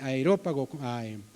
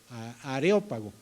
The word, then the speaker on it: Areópago: y llegabas ahí al al aerópago areópago es la pronunciación areópago llegabas ahí y